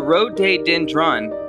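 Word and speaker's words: rhododendron: more video subscribe Europe this tree pronounced the road day dendron lives Canada and is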